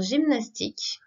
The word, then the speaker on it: gymnastique: Donc, en ce qui concerne le Y tout seul, ce que l'on peut remarquer, c'est que dans gymnastique, le Y se prononce I.